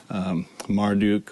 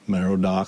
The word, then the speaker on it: Marduk: Babylonian is a popular one because in the creation story there, the Enuma Elish, you have Marduk or Merodach, however you want to pronounce it, fighting Tiamat, and then vanquishing Tiamat, whose corpse is then used to form the world.